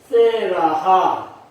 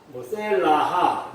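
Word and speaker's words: סֶלָה: 그래서 우리가 뭐 셀라라고 표현했지만 사실 음을 정확하게 잘라서 표현해보면 셀라하, 셀라하, 그렇게 발음을 할 수 있는 그런 단어입니다.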